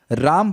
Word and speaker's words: राम: राम will be म with हलंत। लेकिन राम होता है। हरे रामा हरे रामा राम रामा